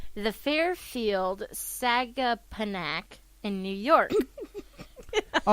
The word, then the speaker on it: Sagaponack: So there's a difference in pronunciation. It's Sagaponack.